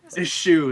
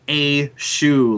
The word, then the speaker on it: eschew: everybody's gonna spell it a shoe, like the foot. The new footwear. It's more like eschew.